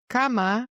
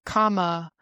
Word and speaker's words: cama: And so instead of saying like cama, an English speaker is like comma at the end of a word if you have an A at the end of a word.